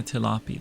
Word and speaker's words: Tilapi: Yeah, tilapy.